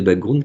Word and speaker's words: background: de petits détails de ce qu'on appelle le background pour le prononcer à la française il ya tout un tas de petits détails de background qui vont changer mais